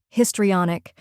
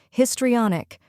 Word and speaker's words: histrionic: down first we have his which sounds just like the word his in this next is tree pronounced like the word tree then comes on which